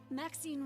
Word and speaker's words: Maxine: Maxine rhymes with queen after all and dearest.